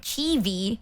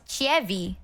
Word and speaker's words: Chievee: The reason my name is spelled, like CHIEVEE, like Chievee, but not pronounced Chievee, instead Chievee, is because Joel got really pissed at the way that it's spelled.